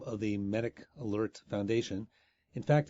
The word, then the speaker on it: MedicAlert: conversation Dr Mark informed me that I was mispronouncing the name of The Medic Alert foundation in fact it's me d i c